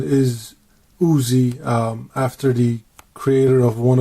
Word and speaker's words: Uzi: called it uz but I believe the proper pronunciation is Uzi after the creator of one of the most